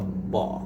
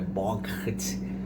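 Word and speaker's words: bought: O u também, né? Você não fala o u, você fala bot, como se tivesse um acento, né? Bot. Bot. E o pessoal que é, normalmente, né, os alunos, quando eles veem essa palavrinha aqui ou pela primeira vez ou quando esquecem, normalmente eles querem falar o g, né? Então, é boght.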